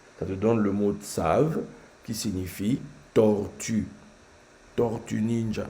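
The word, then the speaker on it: צב: Et là, il y a un mot que l'on prononce Tsav, mais c'est la fin, c'est un Bet. Et Tsav, c'est la tortue. Je répète, Tsav, c'est la tortue en hébreu.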